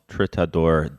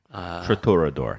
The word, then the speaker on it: Triturador: El Tritador de Santa. Yeah, I didn't want to step on the proper pronunciation. Triturador. That's what it is.